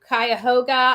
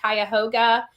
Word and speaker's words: Cuyahoga: His body was taken to Cuyahoga. I think that's how you say it now that I've got it again. Cuyahoga County Coroner's Office due to suspicious circumstances, police said in a statement.